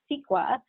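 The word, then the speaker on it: CEQA: is the california environmental quality act and it's pronounced sequa the eir discloses the project impacts to the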